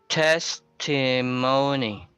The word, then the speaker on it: testimony: Uh, so the primary stress is on the first, and it has a secondary stress, the money part, but it's not a priority. But what's important is within the word you can determine the primary stress. But if you can pronounce the secondary stress as well, that's a bonus. So you say testimony.